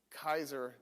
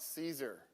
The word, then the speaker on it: Caesar: That's why it's Kaiser, not Caesar. You just that and it's C A. It's not CA. How did we get Caesar out of that? Anyway, and then Ae was probably pronounced I.